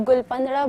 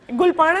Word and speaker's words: Gul Panra: मतलब हर कोई जो है वो इसको उल्टा प्रोनाउंस करता है, कोई गुलपंदरा बोलता है, कोई कुछ। गुलपाना ही है? हाँ, गुलपाना है जी।